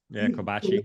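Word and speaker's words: Kobeissi: Just that BED number that the Kobasi, is that I pronounce it? Kobasi letter came out with today. Yeah, Kobashi.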